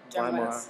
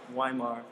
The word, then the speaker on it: Weimar: It's the right way to say it. Mm-hmm. Weimar, not Weimar.